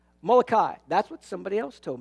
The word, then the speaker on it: Molokai: is too much fun the hawaii island name molokia how do you say it molokai that's what somebody else